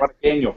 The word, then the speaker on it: Cubarqueño: And they'll hopefully teach Logan how to say Cubarqueño. I feel like I'm saying it right. Every time Juan says it, he says it so fast that I can't. Cubarqueño, you nailed it.